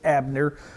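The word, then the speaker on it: Abner: We would pronounce it in English Abnner. Uh the Jews would call him Aer.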